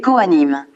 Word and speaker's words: Kohanim: L'on prononce Cohen et le pluriel est Kohanim.